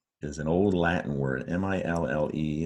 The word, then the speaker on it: mille: Now, the root word of millennials is an old Latin word, M-I-L-L-E. It looks like you want to say mile. It went from Latin to the French language where it's pronounced mille, mille, and it means in French the number 1,000.